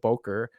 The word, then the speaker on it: Bowker: But it turns out there's this company called Boker that I don't even know that's how they pronounce it, BOWKER, that they sell ISBN and they only sell in bulk.